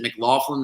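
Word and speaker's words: McLaughlin: when they bring in is it m Laughlin that's how you say his name yeah Jalil mlin I like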